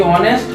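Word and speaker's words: honest: क्योंकि ऑनेस्ट का जो उच्चारण है, प्रोनाउंसिएशन है, वो किस वर्ण से प्रारंभ होता है?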